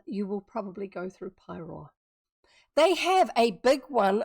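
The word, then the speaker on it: Paeroa: Uh, so look up pyro p a e r o a.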